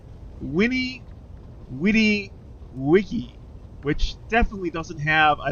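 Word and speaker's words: veni, vidi, vici: uni there we go actually is pronounced Winnie witty Wiki which definitely doesn't have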